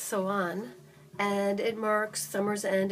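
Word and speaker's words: Samhain: this right here is October 31st pronounced so on and it marks summer's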